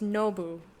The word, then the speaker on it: Nobu: But you would really pronounce it differently, because it's Nobu, accent on the no, whereas if you're saying no boo, the accent would be on the boo, so it's not really.